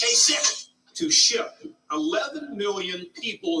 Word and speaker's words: Kasich: Every time I see it, I say Kasich, but it's pronounced Kasich.